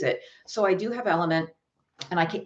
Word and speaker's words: LMNT: alex is asking about the electrolyte product lmnt it's pronounced element i have element i